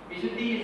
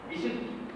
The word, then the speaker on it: Vishuddhi: So, Vishuddhi we call it in modern Sanskrit.